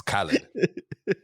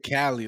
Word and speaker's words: Khaled: i don't know why it's khalid khalid but not saying dj cali like california like oh but no i like